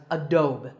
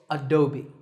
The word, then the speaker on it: Adobe: often pronounced wrongly as Adobe but that e at the end is not silent it should be said as an e sound so it's Adobe number 9 is this